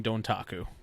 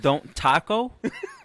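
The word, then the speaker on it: Dontaku: sorry say that one that's why i pause you say wrestling don't taco taco so i'm going to spell it out for you ready d-o-n-t-a-k-u all one word wait can i get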